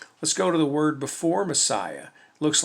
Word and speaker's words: Messiah: m e s s i alpha ah s messiah yes messiahs that is how john recorded this